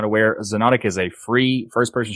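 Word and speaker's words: Xonotic: o n o t i c so you pronounce it xenonic but it's it's spelled with an x yeah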